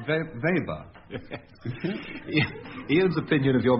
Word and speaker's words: Weber: It's by V-A-Y-B-A. That's right, Weber. Otherwise known as Weber. V-A-B-E-R.